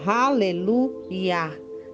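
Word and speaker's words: Haleluia: nessa palavri Nha é que o certo seria raleluia que EA é a abreviação do nome sagrado de Deus que não é pronunciado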